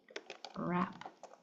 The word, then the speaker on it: wrap: Um we have WR very common you hear the R you don't hear the W. So in right wrinkle wrap.